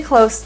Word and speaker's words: close: Was close, but no cigar. The S in close is pronounced as an S. It's voiceless.